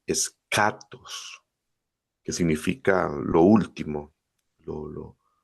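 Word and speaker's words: ἔσχατος: La gente a veces dice chatos, pero no en griego es escatos. que significa lo último, lo lo final. Y esto pues junto a logos, escatología, ¿no? Escatos, escatología, lo último, lo final.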